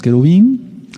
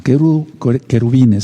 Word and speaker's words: querubín: la alianza con los querubín, no querubines, sino querubín es lo correcto.